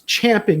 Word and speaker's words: champing: leaders that're you know chomping at the bit they want to uh that's not the right way to say it is it champing I was corrected recently it's champing it the bit all right so